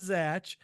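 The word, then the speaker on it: Zatch: did he just sat he said satch Z yeah Zach I I looked it up on he said no he said he said Zach and it is spelled z a t c h yeah but by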